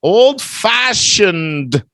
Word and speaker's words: old-fashioned: fast yeah all right old-fashioned don't forget a little D here we're gonna say it like an adjective Bella old-fashioned style old-fashioned